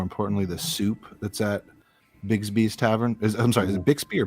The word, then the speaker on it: Bixby: the soup that's at Bigsby's Tavern. Is it Bixby or Bigsby? It is spelled Bixby, but pronounced Bigsby.